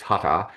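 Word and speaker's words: Hatha: It's a bit of a split I suppose is called hutter, which it sounds like it looks like it's spelled hacker, but it's hutter, which is talking about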